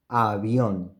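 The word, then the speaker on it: avión: to the third example Avion ah Beyond in this case we have the bay between two vowels it doesn't matter if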